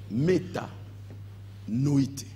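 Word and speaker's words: μετανοεῖτε: Le terme que Jésus utilisa pour dire le royaume de Dieu est proche, répentez-vous, Jésus a dit méta noïté. C'est le verbe utilisé par Jésus. Méta noïté.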